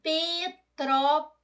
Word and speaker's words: Petrópolis: Petrópolis que eu divido Petrópolis a sílaba tônica é a antepenúltima ela é proparoxítona mas eu já tinha